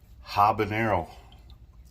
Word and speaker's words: habanero: Habanero is habanero. There's no H. Even though there's an H, there's no H.